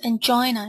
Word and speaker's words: angina: It's actually pronounced angina in English.